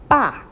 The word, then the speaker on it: 爸: So the whole character is pronounced as 爸.